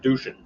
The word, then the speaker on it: Deuce: man's Earth did and they distinctly take the term deuce and pronounce it douchan so that's why people